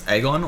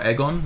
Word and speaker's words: Aegon: start off with um I guess aegon or aegon not too sure how it's pronounced but I think it's aegon yeah like they say egg on but it's it's spelled aegon so you get master aim